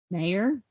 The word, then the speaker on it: Mayer: It's just mare. Like a horse or Mare. Mayor. Yeah. Now we know. From Hannah herself. Hannah Nicole Mayer. Okay. Mayor.